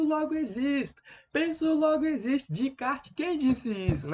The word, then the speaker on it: Descartes: René Descartes né ou de kart Ned Eu já ouvi dizer que esse essa ele não é pronunciado então ficaria redecard que seria né o racionalismo